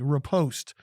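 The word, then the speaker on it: riposte: word of the day repost it is from the french it's r-i-p-o-s-t-e two syllables the definition that we're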